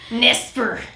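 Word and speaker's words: NESPR: society for psychic research the n-e-s-p-r nesper say it like that and it's one of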